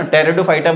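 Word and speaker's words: Pteridophyta: टेरिडोफाइटा बोलते हैं उनको, ठीक है ना, बायो की लैंग्वेज में, ठीक है ना, पी साइलेंट वाले में।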